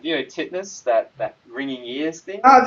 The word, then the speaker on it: tinnitus: A client once explained to me, like, it's like, tinnitus, that ringing ears thing. Oh, the tinnitus, Yeah, yeah.